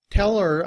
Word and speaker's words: her: But when we are reducing her, we don't pronounce the H. And we just say And when it's combined with tell, we say teller. Tell her I need to see the report.